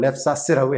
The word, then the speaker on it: LEPSAS: 이것을 랩사스라고 합니다. LEPSAS. 한국 발음식으로 랩사스라고 얘기를 해요.